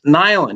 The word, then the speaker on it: Nilan: said what's your name i said it's nylen he's how you spell that n-i-l-a-n he takes out the freaking guidebook